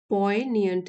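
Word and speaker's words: poignant: पोएनियंट। जी। इसमें साइलेंट है।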